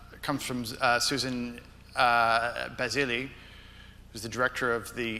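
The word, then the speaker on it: Bazilli: from uh Susan uh basili who's the director of the international women's rights project sorry if I mispronounced your name I just real thank you it's Susan Bazil and I just wanted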